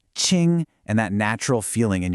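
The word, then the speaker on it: 青: This is Ching and it's pronounced Ching.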